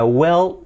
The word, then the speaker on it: will: I will, la I como una E. Will, casi, no es well, ¿vale?